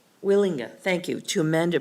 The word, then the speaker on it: Wielenga: Agenda item number 5, site plan application SP 23031 of Wielenga. Am I pronouncing that right? Wielenga. Wielenga, thank you, to amend a previously approved plan